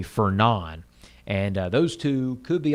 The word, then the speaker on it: Fernand: It's spelled Fernand. It's actually Fernand.